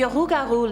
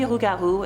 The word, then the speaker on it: rougarou: Rougarou represents a variant pronunciation and spelling of the original French loup-garou, which is the version I heard about when I was younger at summer camp.